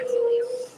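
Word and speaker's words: Truglio: number right here officer Tulio T Ru g l i o the g is silent Julio Shield number 1753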